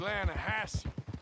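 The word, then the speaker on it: Lannahechee: near here yeah but it's pronounced Lana Hass why is everything in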